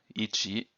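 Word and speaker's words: 一: one two the first one is simply one ichi but this one is is knee so one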